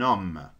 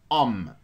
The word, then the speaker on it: homme: Un homme. Est-ce que نطقنا ال H? Non. Directement un homme.